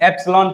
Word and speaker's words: epsilon: इसको डिनोट कैसे करते हैं, ये इसको हम लोग ई नहीं पढ़ेंगे, एप्सिलॉन पढ़ेंगे। एप्सिलॉन लिखा कैसे जाता है, एस के बाद आई रहता है, एप्सिलॉन, मतलब प्रोनाउंसिएशन क्या है इसका, एप्सिलॉन।